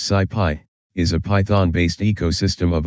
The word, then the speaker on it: SciPy: two sub libraries scipy and sklearn sigh pi pronounced sigh pi is a python-based ecosystem of open source software